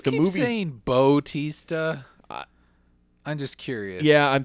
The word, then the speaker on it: Bautista: buts he saw teased about BAU oh it's Bautista yes I always thought it was but T